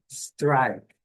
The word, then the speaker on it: strike: Próxima é strike. Aqui eu coloquei algumas dúvidas aqui e olos brasileiros por causa da nossa fonética, isso não é errado. Questão fonética mesmo. Nós temos eh costume de colocar um i antes aqui.